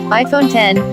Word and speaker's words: iPhone X: claims the iPhone X which is pronounced iPhone 10 is worth your money